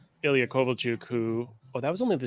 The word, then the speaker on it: Kovalchuk: You get like the only real exceptions being like Ilya Kovalchuk, who that was only the second game. I didn't even win the cup. You say Kovalchuk? It's Kovalchuk. It'd be pronounced like Like if you're going for like,